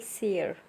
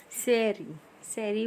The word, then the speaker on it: sere: द एंटायर sequence of communities that successively change in a given area constitute what is called sere. Seri bolo, ser bolo, that's everyone have its own pronunciation.